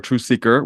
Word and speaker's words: TruthSeekah: way I pronounce words, it was never a TruthSeekah with a hard ER, always with an A or an AH.